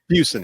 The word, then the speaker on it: Fuson: Welcome to the show, Fuson. Did I get it right? For government work. Use. It's good enough for government work. It's Fuson. Fuson. It's Fuson. almost rhymes with Houston, but Fuson.